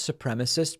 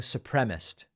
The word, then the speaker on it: supremacist: Saturday by the way I hear sometimes supremacists pronounced supremacist like I think Lindsey Graham says it that way and some others I don't know where they're getting supremaced supremacist is the word at least 150 members